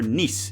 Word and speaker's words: Nice: minute during their 2-1 win over Nice, even though it's spelled nice.